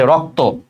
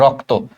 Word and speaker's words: রক্ত: বাট যদি কেউ confident থাকো যে ভাই একদম সহজ সহজ দিছে, যেমন এই যে রক্ত, রক্ত তো বুঝছোই যে যুক্ত যুক্ত ব্যঞ্জনের লাস্টের অটা ওর মতো উচ্চারণ হবে, এই যে রক্ত।